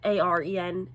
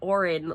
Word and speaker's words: Aaron: It's not Aaron, it's Aaron, but it's Aren and not Orin, like I kept thinking because I was picturing it spelled with an O.